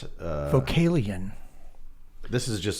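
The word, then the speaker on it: Vocalion: Vocalian, is that how you pronounce it? Yeah, it's Vocalian.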